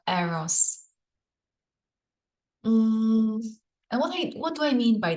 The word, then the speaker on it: Eros: like to propose that it's the energy of arrows or you can say Eros but I like the original Greek pronunciation of arrows what do I mean